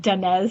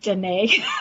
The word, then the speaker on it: Danez: The first time I met Danez Smith, I said Danae.